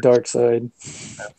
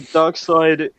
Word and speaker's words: Darkseid: He was referencing Darkseid.